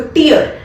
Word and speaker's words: tear: टी मतलब जो focus करते हो किस पे करते हो, ई पे करते हो, टीयर.